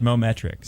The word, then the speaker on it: Mometrix: this morning uh and i'm hoping that i pronounce this right uh moment tracks am i even close that is correct mometrix mometrix okay well should